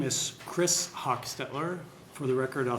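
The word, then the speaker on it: Hochstetler: afternoon senator Clemens uh my name is Chris Hawk Stettler for the record I'll spell that c h r i s last name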